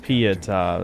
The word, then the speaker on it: Pietà: Oh, it's Pietà. That's how you say it.